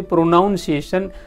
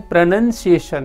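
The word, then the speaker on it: pronunciation: और उसके बाद आता है दोस्तों उच्चार, प्रोनंसिएशन, कुछ लोगों को उच्चार में उच्चार का उच्चार नहीं आता, वो बोलते प्रोनाउंसिएशन, डेट्स रॉन्ग। क्या बोलना है? प्रोनंसिएशन।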